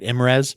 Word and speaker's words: IMRES: If you don't spell it out, you say it, right? IMRES? That's right. Mm-hmm. Yes. IMRES.